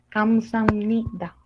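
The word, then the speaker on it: 감사합니다: Y entonces, combinando lo que vendrían siendo estas dos sílabas, tanto que esta B se convierte como una M, pasa a ser como Kamsam. ¿Ok? No es como Kamsahab ni Kamsap, es Kamsam con M. Sam, simplemente las dos sílabas se convierten en una sola como Sam.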